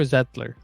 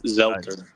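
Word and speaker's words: Zeitler: Is it Zelter or Zettler? Do you know? It's Zelter.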